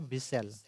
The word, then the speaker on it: whistle: तो देखिए इसका जब हम लोग उच्चारण करेंगे तो ये आपका होता है बिसेल, जिसमें से किसका उच्चारण नहीं हो रहा है, तो इसमें जो हो रहा है उच्चारण, एक डब्लू का नहीं हो रहा है, एक उच्चारण डब्लू का नहीं हो रहा है और एक नहीं हो रहा है टी का।